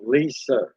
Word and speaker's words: Lisa: Lisa. Lisa. Okay. Right. Said Lisa would be correct. I've had people pronounce it as French.